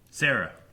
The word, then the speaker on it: Cera: Sarah. I never got that Sarah was because Triceratops. Yeah, her name is spelled C-E-R-A.